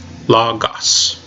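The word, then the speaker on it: λόγος: First syllable, we have lambda omicron. So l, lambda, omicron, la. Second syllable, we have gamma, gamma, omicron, omicron, sigma, gos, logos. Put it together with everything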